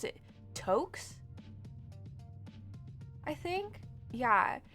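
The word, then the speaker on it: tuque: welcome in toks okay I'm sorry they're called Tukes tooks scullies skull caps or beanies yes um it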